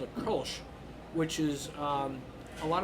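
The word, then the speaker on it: Kölsch: uh it's k-o-l-s-c-h and the O has two dots over which in German we call them umlaut and it makes the o sound kind of like an ER that's having one now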